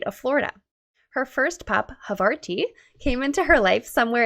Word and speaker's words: Havarti: I was worried I pronounced your dog's name wrong, but it's Havarti or Havarti, right? I like the little extra accent on the end. Yeah, it's Havarti. I know. Just I like really the cheese. pronunciated every syllable. Havarti.